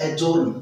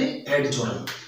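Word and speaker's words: adjourn: इसी तरह ये होगा एडजस्ट नॉट एडजस्ट, और इसी तरह ये होगा एडजोर्न नॉट एडजोर्न।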